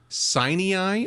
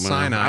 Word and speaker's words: Sinai: We're hiking up in the day, and we're going to spend the night on Mount Sinai or Mount Sinai. I would pronounce it Sinai, but you are Southern Indiana, so anyway, which means we can talk any way we want to.